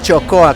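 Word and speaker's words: txokoa: TX no Claro claro la TX significa la ch eh eh castellana este todo nuestro centro Vasco se llama gure chocoa con TX nuestro lugar nuestro centro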